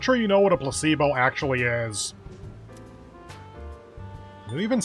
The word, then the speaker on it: placebo: The stress is on the middle syllable. Placebo.